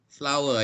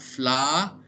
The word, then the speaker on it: flower: So the correct pronunciation, it is not flour, it is flower. It is not British or American. Both will use flower. Only Malaysians, Singaporeans, and Phua Chu Kang will use flour.